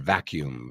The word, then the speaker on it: vacuum: El vacuum. Very. Ese U es como you. Vacuum. Vacuum. Vacuum.